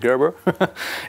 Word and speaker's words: Gerber: Ça s'écrit Gerber, hein, voilà, mais ça se prononce Gerber.